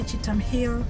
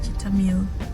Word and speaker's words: Cheetham Hill: But where I am going, it's called Cheetahmill, and that's the other way. Cheetahmill is written Cheetham Hill. Cheetham Hill. They just pronounce it Cheetahmill. They don't say Cheetahmill, they don't say Cheetham Hill, they say Cheetahmill.